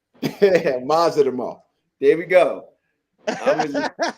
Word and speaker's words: Madrimov: What's the best pronunciation for this guy's name? Israil Madrimov. Madrimov.